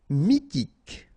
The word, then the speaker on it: mythique: r he mineur mineur mythique remember q u a dn Ok. And then y pronounced like I mi h is not pronounced mythique d'origine nomade pronounced officiel paranoïque.